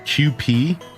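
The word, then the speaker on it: Kewpie: It's pronounced QP.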